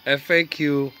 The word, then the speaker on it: faqyou: F-A-Q-Y-O-U. I pronounce that faqyou.